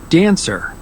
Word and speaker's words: dancer: Dancer. Salesperson. Accountant. Okay, so you might notice when it's being mentioned out loud, dancer has 2 syllables, dancer, dancer, and the main stress goes to the first syllable, dancer, dancer.